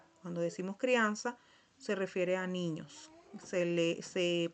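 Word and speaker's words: criança: Esta se pronuncia sa, so, su, sal, soes. Sal, sal, soes. Como si fuera una letra S. Esa es la pronunciación.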